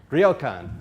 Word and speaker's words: ryokan: I tried to get the pronunciation for this right yesterday. Ryokan? Ryokan.